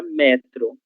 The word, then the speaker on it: metro: É diferente da palavra metro. Metro, a unidade de medida utilizada para medir a nossa altura. Essa não vai receber acento gráfico, porque pertence a uma outra classe de palavras em relação à sílaba tônica, ok? Mas metrô recebe o acento, porque é um oxítona terminada em O.